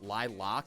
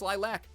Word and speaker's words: lilac: why are they saying Lil loock it's lilac around here there's an A in that word we are going to over enunciate that so badly we also